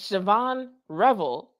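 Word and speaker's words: Shavon Revel: How to pronounce Siobhan Revel. Yeah, it's Siobhan Revel.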